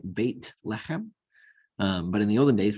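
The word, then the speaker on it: בית לחם: born it's called Bethlehem in Hebrew it's bait in the pronunciation that we're using right bait lechem but in the olden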